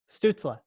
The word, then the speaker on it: Stützle: Stützle.